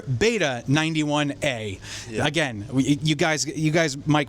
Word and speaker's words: Beta 91A: We've all been saying it wrong. It's the Shure Beta 91A.